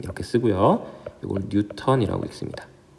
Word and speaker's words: 뉴턴: 읽을 때는 뉴턴이라고 읽습니다. 자, 뉴턴은 중력의 단위만이 되는 게 아니라 힘의 단위예요. 힘. 자, 뉴턴. 힘의 단위는 우리 N 이렇게 쓰고요. 이걸 뉴턴이라고 읽습니다.